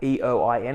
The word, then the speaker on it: Eoin: So Eoin Byrne, I'll get you to spell that out. Eoin.